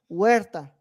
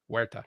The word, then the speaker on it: Huerta: No, Huerta. Huerta. Why do I want to make it Jewish? H is silent, bro. Remember, Brad. The H is Huerta.